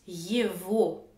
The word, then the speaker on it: его: Celui-ci se prononce yevo. Mais pourquoi la même lettre G donne deux sons différents?